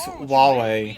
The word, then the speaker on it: Huawei: of the United States for it it's not pronounced Hawaii already it's it's Huawei I've heard it was people have different ways